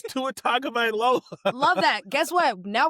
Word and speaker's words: Tua Tagovailoa: It's Tua Tagovailoa.